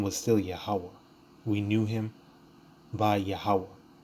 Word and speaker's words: Yahawah: It's Yahawah. There ain't no Yehovah. Where is the V? That's a Wah.